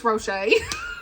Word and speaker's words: Rocha: on read was the road before us by Janine Rocha and I was saying her name wrong in my Vlog I was trying to say Ro it's rochet okay U but this is